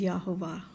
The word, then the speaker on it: Yahovah: It has always shown that the pronunciation is Yahovah.